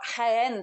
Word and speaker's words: Jaén: talk to you about hen today and that's somewhere that is spelled j a en even though it sounds like it's with an H well and first I'd